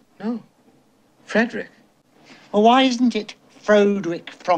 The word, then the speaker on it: Frederick: No, it's pronounced Frankenstein. Do you also say Frederick? No, Frederick.